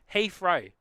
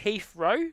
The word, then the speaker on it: Heathrow: Heathrow. Heathrow. Could be like Heathrow, so H-E-A-F, row. Or like Heath as the name, as it's actually spelled. But yeah, Heathrow.